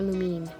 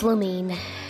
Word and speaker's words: Lumine: Lumin as a witch is it Lumin or lumine shoot I need to figure that out it's lumine I've been pronouncing it as Lumin this whole time but I should have